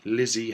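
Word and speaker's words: Lzzy: Yes, Lizzie Hale, although it's spelled L-Z-Z-Y, so it's really Ulzie Hale.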